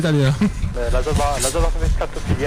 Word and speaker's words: scatophilie: La stocophilie. Non, la scatophilie.